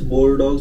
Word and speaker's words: Bordeaux: It's spelled as Bordeaux, but it's Bordeaux.